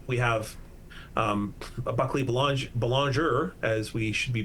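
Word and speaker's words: Belanger: And then uh we have um Buckley Bal Bologoner as we should be pronouncing the name properly.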